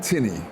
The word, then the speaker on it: Tinnie: your name my name is tiny and I'll spell it this